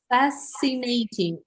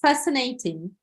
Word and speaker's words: fascinating: must read it okay fascinating the letter c is silent here yeah so let's say it all together it is fascinating fascinating fascinating very good